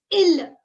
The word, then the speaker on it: il: He is pronounced as il.